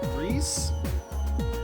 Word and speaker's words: Ries: Okay, and I think I was told that her name is supposed to be pronounced Reese, but Ria sounds so much better.